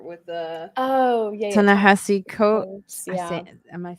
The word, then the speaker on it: Ta-Nehisi Coates: Dance or whatever with the Oh yeah, yeah, Ta-Nehisi Coates.